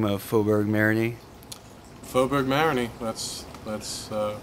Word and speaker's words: Faubourg Marigny: as their new home how do you correctly pronounce the name of faberg Marin faberg mariny that's that's uh how I've always pronounced it